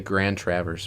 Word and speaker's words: Grand Traverse: And so that's why I think it's Grand Traverse. All right, we're about to find out from the state of Michigan pronunciation guide. Grand Travers.